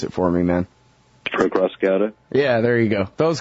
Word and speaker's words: Acrassicauda: This one is Between the Ashes from, you got to pronounce it for me, man. Acrassicauda?